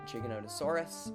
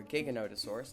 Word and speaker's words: Giganotosaurus: We have Giganotosaurus, or Giganotosaurus, depending on how you say it, Guanlong, Majungasaurus, Metriacanthosaurus, Microraptor, Oviraptor, Rugops, and then we have Postosuchus.